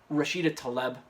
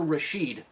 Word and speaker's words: Rashida Tlaib: It wasn't like he called her, Rashida Tlaib, or, missed it a little bit. He thrice in a row called her Rasheed, which is a male's name, by the way.